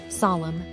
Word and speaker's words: solemn: a voiceless consonant finally the letter N is silent in some words and it's not pronounced at all here are some examples of words that have a silent n condemn Autumn solemn damn him did you notice how the N is not pronounced in any of these words now it's time